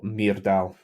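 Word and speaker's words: Muirdal: the names oh right Amanda how would you spell that uh m-u-i -r-d-a-l Mir Dal mirror Mir Dal um like if I ask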